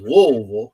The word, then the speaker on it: Louisville: The kid from Louisville, and I said that correctly, is Louisville. You got to say it like they say down in Louisville.